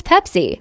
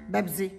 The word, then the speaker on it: Pepsi: How will my Arab mom pronounce Pepsi? Bebsy. Pepsi. Bebsy. Pepsi. Yes, Bebsy. Mom, look at the can, look at the letters. It's Pepsi. See.